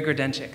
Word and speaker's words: Grodenchik: I'd like now to introduce our newly elected City Council member from District 23, Barry Grudenczyk. Thank you so much for coming. Good evening, everybody, and thank you for pronouncing my name so correctly.